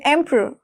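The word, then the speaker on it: emperor: ठीक है, एम्परर, एम्परर कैसे बोलोगे, एम्परर, एम्परर, एम्परर। मैंने बोला आर जब भी आएगा उसको साइलेंट कर दीजिए।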